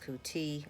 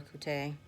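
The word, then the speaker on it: Coutee: is Kate um actually pronounced kuti or kute um and that is spelled no baby I'm recording I've already said that okay um and that is spelled c-o-u-t-e-e okay for those of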